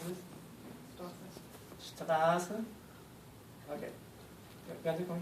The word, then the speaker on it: Straße: Straße. Okay. You want to come here? No. Okay, so we have two sounds here. We have a soft F, we have a sh, right?